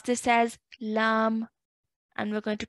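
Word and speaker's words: لام: So what that means is we're still going to pronounce it as lam, but we're going to stretch that for 4 to 6 counts. So we're going to say lam.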